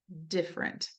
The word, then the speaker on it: different: We don't tell kids about the fact that we actually align middle syllables quite frequently in English. So even though we might teach them ever and never, every is not pronounced that way. We say every, we say different, right? Family.